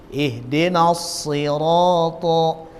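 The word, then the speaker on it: اهدنا الصراط: adalah hokya kemudian Hai pada proses pengucapan yang baris kasrah pun dia tetap tebal ihdinash shiraathal ihdinas Slank ihdinas free tidak boleh ihdinas Hai dengan bunyi huruf Sin ihdinashirotol ihdinashirotolmustakim = thapki merokok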